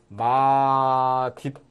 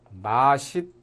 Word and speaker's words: 맛있다: 우선, 디귿을 그대로 인정을 해서 대표음으로 발음하는 맛있다. 이렇게 발음하는 것이 있습니다. 그러니까 맛있다. 이렇게 발음하는 것이 있고, 그 다음에는 시옷을 대표음으로 안고 연음시키는 발음이 있습니다. 맛있다. 이렇게 둘 다 인정을 해줍니다.